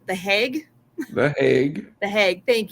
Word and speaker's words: The Hague: So they even have a highlight video from when the games were in how do you pronounce that? Hague? Hog? I The don't know. Hague. Hague. The Hague.